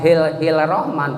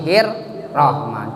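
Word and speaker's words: الرحمن: berarti lamnya tidak kelihatan, bacanya harus diidgham kan, bukan hil rahman tapi hir rahman. Jadi seolah-olah lamnya tidak ada, tidak kedengaran.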